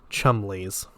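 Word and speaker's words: Cholmondeley's: Penny gave it the correct English pronunciation. Chumley's.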